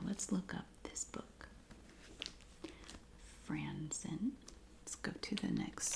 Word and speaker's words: Franzen: I think I said Franzer. Franzen.